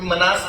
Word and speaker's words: मानस: अंग्रेजी में देखो, मैं कि एक ही वर्ड बोलता हूं, MANAS, क्या बोला जाएगा? प्रोनाउंस क्या करोगे आप? कोई मनास करेगा, कोई मानस करेगा, कोई मनस करेगा, लेकिन मैंने तो गुजराती में मानस लिखा था, मानस, हमारे गुजराती में मानस होता, तो मैंने तो मानस